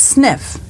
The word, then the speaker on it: SNF: An SNF pronounced sniff is a skilled nursing facility.